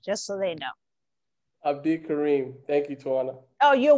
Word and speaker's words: Abdikarim: Abdikarim.